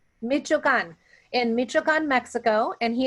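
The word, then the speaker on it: Michoacán: Carlos was born in, you have to help me out here, Carlos, so I pronounce it correctly. It's Michoacan. Michoacan, in Michoacan, Mexico, and he is a first-generation college graduate.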